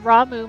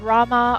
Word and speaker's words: Ramuh: Yep, it is officially pronounced Ramuh, matching its Japanese katakana. Though English localizations and player communities frequently use Rama or Rama, influenced by the Hindu deity Rama.